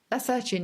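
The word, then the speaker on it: lacertine: How do you pronounce it then? Lacertian, yeah.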